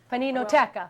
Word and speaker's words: Paninoteca: Paninoteca. Well, you pronounced it properly.